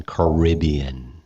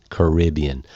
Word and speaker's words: Caribbean: on a Caribbean cruise that's the American pronunciation Caribbean Caribbean Like Pirates of the Caribbean all right so he